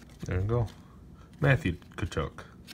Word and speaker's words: Tkachuk: Matthew Tkachuk. Tkachuk. Jacob Slavin. Alexander Radulov. I misread the back there for the pronunciation.